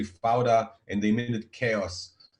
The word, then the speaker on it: Fauda: They call it Peoda in the beginning. They didn't know how to pronounce it, but now it's such a common word in Israel. You can find it everywhere. Everybody talks with it, and they say Fauda, and they mean it chaos.